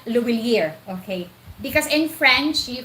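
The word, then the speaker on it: Lhuillier: from GCash to Cebuana Luwilier, Luwilier, not Luwilier, okay? Because in French, you can pronounce that Luwilier, not Luwilier, okay? It's Luwilier, Cebuana Luwilier.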